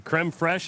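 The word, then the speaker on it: crème fraîche: You get 10 chicken nuggets, the creme fresh, is that how you say it?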